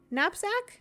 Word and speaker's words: knapsack: recover uh this Frid uh knap knapsack napsack nap napsack that is a silent k from the fainting couch